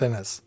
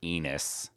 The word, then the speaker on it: Ennis: I don't think it's pronounced Enos. It's yeah.